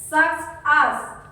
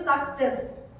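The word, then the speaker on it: success: Kayak tadi, sucks as. Tapi kalian harus baca itu succes, ya, bukan sucks as, succes.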